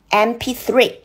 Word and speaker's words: MP3: No，我们这边看的是发音字母 M，它的发音是 M，对，看的是发音，开头发音是哎，它是一个短元音，元音开头，源头 M，所以正确答案是 It's an MP3，你做对了吗？